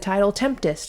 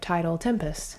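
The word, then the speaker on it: Tidal Tempest: CD reaction I did I said title tempst instead of title Tempest thank you to the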